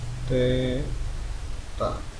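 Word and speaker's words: θ: Oke, arus listrik itu biasanya I ya, suhu dimensinya adalah theta, ini dibacanya theta ya.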